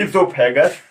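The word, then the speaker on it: oesophagus: Mouth के बाद second point आता है ईसोफेगस। सेकंड पॉइंट आएगा, ओ होता है इसमें, ओ साइलेंट रहता है तो हम लिखेंगे इसे ओ से ईसोफेगस।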